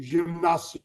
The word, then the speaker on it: gimnasio: Exercicio e mi gimnasio. Don't know if Bien. that's the right. En gimnasio. Se pronuncia gim. Him.